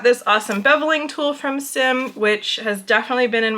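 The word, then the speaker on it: Xiem: the conference with Sim tools the head of sim tools was there and confirmed that it is pronounced Sim if you love this brand of tools and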